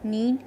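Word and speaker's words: knead: नीड के silent है तो you will pronounce it नीड the dough.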